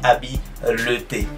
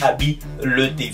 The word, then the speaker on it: habileté: À ne surtout pas confondre la prononciation de ces deux mots, habilité et habileté.